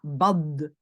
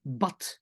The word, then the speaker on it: bad: Je ne dis pas bad, je dis bat. D'accord? Donc, même si c'est un «de» à la fin, je dois le prononcer comme «t».